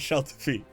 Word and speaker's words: Shelterfeet: My voice coach, my pronunciation guide, has confirmed it's Shelterfeet.